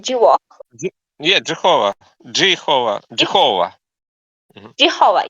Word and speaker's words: Jehovah: How can you pronounce this name? Jehovah.